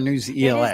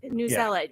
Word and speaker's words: Newsella: Yes, Is it that's- Newsella or News ELA? It is Newsella. When it first came out, they did say News ELA, but they felt like it was leaving out other disciplines, so they Yeah. changed the pronunciation.